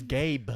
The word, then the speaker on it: Gabe: It's not Gabe Vincent. I said Gabe. It's Gabe. You gotta pronunciate the B.